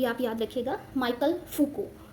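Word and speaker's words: Michel Foucault: इनका time period भी आप याद रखिएगा, माइकल फूको। इनका प्रोनाउंसिएशन डिफरेंट होता है क्योंकि फ्रेंच राइटर हैं और इन्होंने बात की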